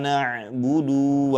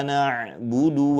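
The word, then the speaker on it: نَعْبُدُ: Hati-hati jangan sampai dibaca menjadi bacaan yang panjang. na'budu contohnya seperti ini. Iyaka na'budu wa iya seperti itu. Itu tidak tepat ya atau keliru. Namun yang betul di sini huruf dalnya dibaca pendek ya.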